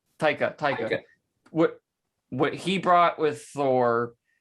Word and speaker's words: Taika: But I think the Taiki, say his name, Taika.